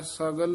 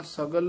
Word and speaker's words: सगल: रोग का बिनस थाव गगा शुद्ध बोलना है सगल रोग का रोग य नहीं बोलना सगल रोग का सगल रोग